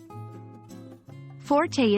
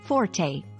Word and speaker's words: forte: volume it is pronounced forte in common English usage both Forte and Fort are acceptable pronunciations when we use forte